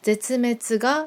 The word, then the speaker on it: 絶滅: 제츠메츠가 멸종입니다. 한국어 한자 발음과는 좀 달라요.